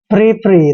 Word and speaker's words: frippery: Next है FRIPPERY। दोस्तों एफ का उच्चारण फै करते हैं, आर को रे लिखना है और आई को ई की मात्रा पढ़ते हैं। डबल पी का उच्चारण पै करेंगे और ई आर को रे पढ़ना है, वाई को ई की मात्रा पढ़ते हैं। फ्री फ्री।